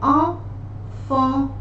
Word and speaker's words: enfant: All these letters together, they are pronounced as on, like enfant, enfant.